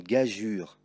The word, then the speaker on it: gageure: L'orangeade, un pigeon, une gageure, que tu pourras voir aussi écrit comme cela. Mais dans les deux cas, il faut dire une gageure.